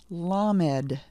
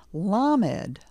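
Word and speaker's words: למד: on the next letter in our list is lamed repeat after me LED I'm giving the sound after the letter again lamed the next letter after lamed is mim listen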